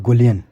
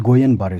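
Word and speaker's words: Guillain-Barré: This is नॉट गोलियन, this is गोयन बारे syndrome, ये double L silent, ठीक है।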